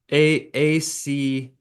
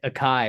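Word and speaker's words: açaí: Like I've always pronounced it like a kai or a sai or something. I don't know. Okay. Yeah, I mean, Okay. I'm pretty sure it's acai.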